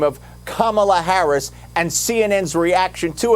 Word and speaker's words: Kamala: the correct way to say her name it's kamala so maybe someone should tell joe biden that's